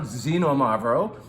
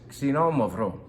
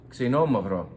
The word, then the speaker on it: Xinomavro: This is not Xinomavro. Even all of my wine vendors call it Xinomavro. It's Xinomavro. Xinomavro. Different emphasis and a different sound at the beginning. Not the Z sound, but kind of a KS.